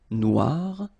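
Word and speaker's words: noire: So it's quite funny because you will have to add this E at the end of noir for the feminine form, but then you don't pronounce it. Okay, so phonetically it is exactly the same.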